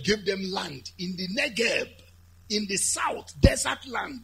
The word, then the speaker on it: Negev: Negev, written but pronounced Negev, is the south.